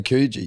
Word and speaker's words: Coogee: We've got in Western Australia we say Coogee. You say Coogee.